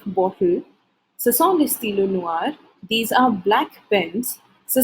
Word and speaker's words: noir: So the first color that we have here is black, noir, noir, masculine noir, feminine noir, masculine plural noir, feminine plural noir. Now the pronunciation for all is the same, but the spellings are different.